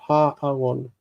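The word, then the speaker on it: הָאָרוֹן: Notice that aron is normally with a reduced vowel, aron, but when it takes the article, it's ha'aron. Kamatz, like ha'aretz.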